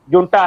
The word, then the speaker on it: junta: China खुलकर वह, हाँ, JUNTA है, लेकिन उच्चारण जो म्यांमारी भाषा में है उसको हा है, वो जे के जगह पे वो हा उच्चारण करते हैं, इसलिए तो ये हुंटा JUNTA लिखते हैं पर बोलते हैं वहां पे हुंटा है।